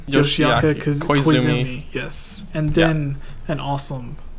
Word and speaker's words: Yoshiaki Koizumi: Is that how you pronounce his name? Yoshiaki Koizumi.